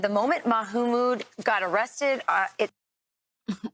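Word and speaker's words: Mahmoud: She said the moment Mahumood got arrested, uh it Oh my god, the Fox News pronunciation. Maammode. Brian Kilm. Sorry. Ma mode. It's not that hard.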